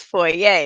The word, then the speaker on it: foyer: you pronounce them right so it's foyer it's not a lawyer or like you know